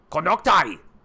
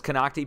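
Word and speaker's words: Konocti: Konoktai! I said it was Konokti. People tried to correct me.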